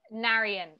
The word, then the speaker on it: Narayan: Talk about working with your DP, the name Narayan Van Mail, correct? Narayan is how it's pronounced.